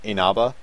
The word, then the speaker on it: Inaba: The actual pronunciation being Inaba.